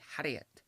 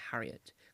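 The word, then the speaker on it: Herriot: known for play James haret which is how I pronounce word haret J to the I'm trying to make sure I'm not say Harriet it's haret har um in all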